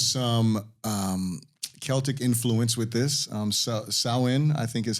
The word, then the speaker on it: Samhain: Samhain, I think is how we pronounce it. Samhain is the original holiday.